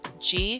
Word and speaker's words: Gee: A local told me it's actually G Creek, not Ghee Creek.